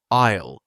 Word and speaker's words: aisle: Isil is the seat near the walking path, right? Yes. Isle. It is spelled A I S L E. But we say I'll like I will.